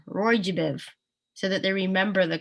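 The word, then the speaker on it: ROY G BIV: of the rainbow and people often spell it out and say it like a word Roy jiv so that they remember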